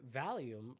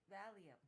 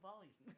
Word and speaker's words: Valium: That is totally Valium. Not volume. Volume is different. Like raise up the volume?